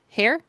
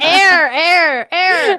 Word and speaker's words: heir: discover who the air hair. How do you say it? Hair hair to the throne. Girl, you can't read. I know. The air air.